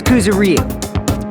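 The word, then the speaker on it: Kuzuryu: My last name is Kuzaro. My first name is pronounced.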